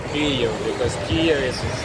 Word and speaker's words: Kyiv: I'm in Kiev right now. How do you Actually, guys? right pronunciation it's Kyiv because Kyiv is how Russians say Kiev.